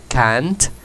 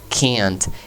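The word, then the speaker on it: can't: atención a la pronunciación no digo simplemente cant sino que kant el sonido de la cambia a ser muy similar a lo que el sonido de la e en español no ayer a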